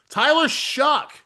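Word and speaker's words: Tyler Shough: Tyler Shuck, that is how you pronounce his name, folks. Tyler Shuck, uh, second start taking over for Spencer Rattler for the Saints.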